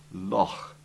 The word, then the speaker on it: loch: It's a guttural sound made from the very back of your gullet, as though you're trying to clear your throat.